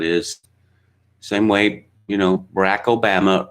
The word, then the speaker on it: Barack Obama: Same way, you know, Barack Obama rhymes with Alabama.